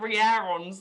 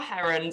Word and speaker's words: Hearons: Oh my god, I've been pronouncing it Hearons the whole time. I've followed her account. Oh fuck, that makes way more sense. Okay, so it's our Herons apparently. My mind's just been blown.